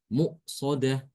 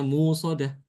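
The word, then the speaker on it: مؤصدة: Ya, jangan sampai bacanya musodah, tapi harus ditekan ke makhraj hamzah. Musodah. Harus jelas hamzanya.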